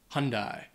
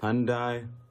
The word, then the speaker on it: Hyundai: number five hunde or as I think a lot of Americans say Hyundai and this one it's Hyundai or Honda hyi it it's this is a Korean brand so again it takes on very different pronunciation I'm not really sure why but that's just the way it is number six Nike uh